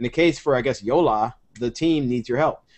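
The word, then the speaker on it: Jolla: So Yola is spelled J-O-L-L-A, and you just go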